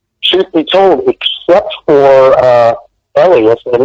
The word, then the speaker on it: Elias: And then by the time the third movie rolled around, truth be told, except for Elias, and he actually pronounced his name Elias when we were on the set, except for Elias, nobody that was in the third movie was in the first movie.